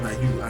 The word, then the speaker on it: Na-yeon: Yes, her name is actually Na-yeon, well, it's pronounced Na-yeon and the spelling is Na-yeon.